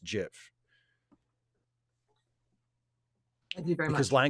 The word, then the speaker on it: GIF: And that thing is pronounced GIF.